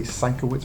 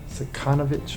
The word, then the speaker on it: Sienkiewicz: This is that Bill, I always say Sienkiewicz, but it's not Sienkiewicz, it's Sekanovich or something like that.